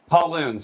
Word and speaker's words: Pauluhn: Yeah, Paluhn. Pauluhn. So it's like the boy's name Paul, and it rhymes with typhoon.